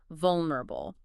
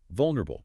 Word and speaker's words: vulnerable: The primary stress is on the first syllable, V-U-L. The subsequent syllables are softer, quicker, and less stressed.